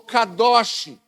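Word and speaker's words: קדוש: Essa palavra, consagrar, consagrar, no hebraico ela é kadash ou kadosh.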